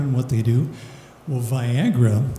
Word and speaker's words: Viagra: what they do well viagra rhymes with Niagara straw strong powerful all